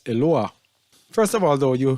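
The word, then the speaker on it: אלוה: All right, if you look at this word here, this is a commonly used word in modern Hebrew, which they pronounce as Eloah.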